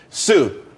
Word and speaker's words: TSU: there's more money and everyone could be happy Sue TSU it's pronounced Sue though that's that's a website.